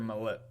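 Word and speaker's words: Maulet: some upgrades I know Arthur Mallet I think Mallette is how you say it has really stepped up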